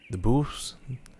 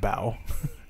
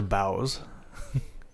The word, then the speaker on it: boughs: So apparently this right here is pronounced bow. Aside the boughs.